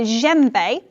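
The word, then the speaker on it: djembe: you is an instrument called a gembe which is spelled d j e m b e that's not what you think it is and traditionally it's from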